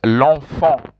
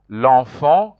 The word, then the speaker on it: l'enfant: see there it's written l'enfant. L'enfant, you pronounce like that. En is pronounced en. En is also pronounced en. That's why you say l'enfant.